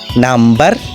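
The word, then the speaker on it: number: ওম মাতৃগব্বর কম চিরণী কিন্তু ব্যতিক্রম লক্ষ্য করে এম এর পরে বি এবং বি এর পরে ভাওয়েল থাকাতে এই উচ্চারণে আসতেছে যেমন নাম্বার অর্থাৎ সংখ্যা বি এর পরে ই ভাওয়েল আছে তাই বি উচ্চারণে আসতেছে একইভাবে প্লাম্বার কাটমিস্ত্রী বম্বিং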